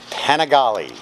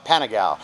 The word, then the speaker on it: Panigale: in under three seconds panigale had to have a co-worker josh correct my pronunciation of that i wanted to call it pentagon 16 528 in inches